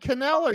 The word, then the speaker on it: Kneller: Let me tell you about Chad Kneller. You say his name like you do knife.